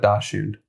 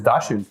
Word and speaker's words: Dachshund: But I'm pretty sure the German pronunciation is Dachshund. So it should be pronounced Dachshund. Yeah, it's Dachshund. It's Dachshund. No, I don't know if I'm pronouncing it right, though I do know if it is German, and I'm pretty sure it is, that is how you pronounce it.